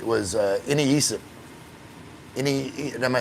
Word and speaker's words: iniisip: Like the one that was like hardest for me to get right was iniisip. Am I saying it right? Iniisip? Iniisip.